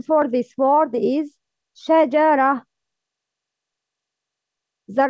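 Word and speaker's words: شجرة: The right pronouncing for this word is shajara. The wrong pronouncing is jajara. No, it's shajara.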